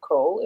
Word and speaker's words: Croll: his name to me, I think it's pronounced Croll in the audio book.